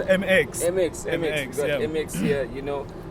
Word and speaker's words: MX: We got IMX, it's how you pronounce it? It's MX.